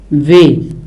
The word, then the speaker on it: वह: Vah, same thing with that, you don't pronounce the her and you say ve.